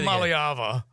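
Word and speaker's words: Iamaleava: Malyava. Uh, and that was right, actually. That's the correct That's the correct pronunciation.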